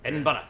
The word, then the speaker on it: Edinburgh: Edinburgh. You got to say it like the Scots, laddie.